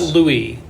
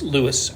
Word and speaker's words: Louis: It's not Louis. It's Louis. Rees-Zammit is one of the interesting characters.